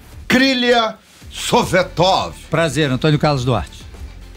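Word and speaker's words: Советов: com o kilia sovetov gostou da pronúncia Sorvetão não sovetov svetov da Rússia Rússia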